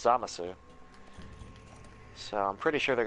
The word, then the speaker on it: Zamasu: far as Xenoverse goes, they left the U in, so it's Zamasu.